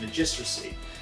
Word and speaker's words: Magistracy: I want to say Magistracy, but I know it's not Magistracy. It's Magistracy of Canopus.